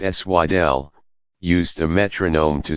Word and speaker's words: Sidel: And in speeches beginning in the mid-1980s, Dr. Sidel, pronounced Swidel, used a metronome to stress what he described as the imbalance between worldwide spending on arms and health care.